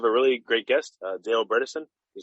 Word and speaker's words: Bredesen: really great guest dale bredesen he said his last rhymes with medicine which i think is